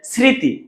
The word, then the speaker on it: স্মৃতি: যেমন ভাইয়া স্মৃতি, স্মৃতি লিখতে এই দন্তস্বটা, এই দন্তস্বটা দন্তস্বই থেকে যাবে, কেন?